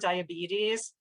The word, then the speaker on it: diabetes: Okay, so again, there's lots of vowels in that word diabetes, but there's one stressed vowel sound and I underlined it. It's that E sound: diabetes, so we're